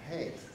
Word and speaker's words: Haidt: That's how he pronounced his name, Haidt, which is very unfortunate for somebody who's writing a book on happiness.